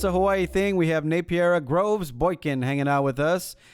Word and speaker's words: Napiera: Not Napiera. Napiera. More emphasis on wrong syllables.